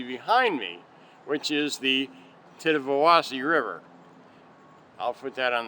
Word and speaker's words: Tittabawassee: for not impossible and it actually pronounced just like it spelled if you if you go through it syllable by syllable it's the tenth of velocity River interestingly enough at